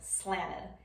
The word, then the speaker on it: slanted: We saw this in the example of Milwaukee, It also is common in those NT syllables like you see in slanted. So where I say slanted right now, when I'm talking casually with my family, I'll probably say it more like slanted and not include that T at all.